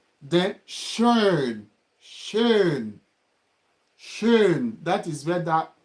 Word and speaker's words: schön: Then schön.